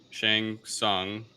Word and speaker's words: Shang Tsung: ancient mortal kombat tournaments um the emperor's sorcerer shang sung i hope i'm pronouncing it right i don't know correct you